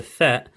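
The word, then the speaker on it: ثاء: I'll write down how Tha would look, but if I do it now quickly, just up in this corner, T-H-A-E, Tha. Instead of a the sound, T-H, the sound, it's not rubbing out properly.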